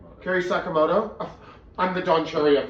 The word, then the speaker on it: Sakamoto: Carrie Sakamoto. I'm the Don Cherry of this thing. I'll get every name wrong.